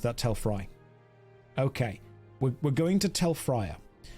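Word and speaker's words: Tel Fyr: It's Telfia. I've always pronounced that Telfry.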